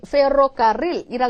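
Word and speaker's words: ferrocarril: 연습을 자꾸 하시면 되거든요 페로카릴 로릴이 소리가 말이죠 스페인어를 정말 노래처럼 아름답게 들리게 하는 것 중 한 요소 중에 하나예요 그래서 원어민들 발음이 좋은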